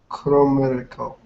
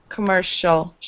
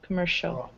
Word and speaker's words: commercial: It's pronounced commercial. That's C-I-A. It turns into a sound, commercial.